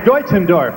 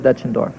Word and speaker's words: Deutschendorf: you mrs it is deutschendorff is it matt dutchendorff the correct german pronunciation would be deutschendorf we always said dutchendorff well you've done something